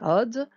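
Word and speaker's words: עוד: Vav porte une voyelle, donc c'est forcément un O, à la limite un OU. On n'est pas en train de jouer de la musique avec des OUD, on est en train de prononcer Od, encore. On peut prononcer le Aïn ou pas.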